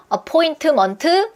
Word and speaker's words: appointment: 근데 얘는 발음 끼워 보시면 모음이 3개예요. 그 얘기는 뭐냐면 삼음절이란 얘기예요. 여러분이 삼음절인 거를 유금절로 소리 내면 원어민들은 오히려 발음이 틀어지는 것보다 강세의 개수가 틀어지면 굉장히 당황합니다. appointment, what? 이렇게 됩니다. 얘는 어떻게 돼요? appointment. 믿을 수 없겠지만 이 긴 단어가 바나나랑 리듬이 똑같아요.